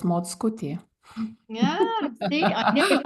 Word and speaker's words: Mockutė: I can say the spelling, My surname, by the way, it's Mockutė. Yeah, see, I knew if I tried to pronounce that, it would have been I bad.